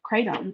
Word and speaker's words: kratom: the alkaline diet um mixed with the crate kratom is how you say it kratom um doctor warned